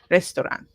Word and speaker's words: restaurant: that um U there because the U tends to disappear so it's not resan restoran it disappears it's very short restaurant and uh here for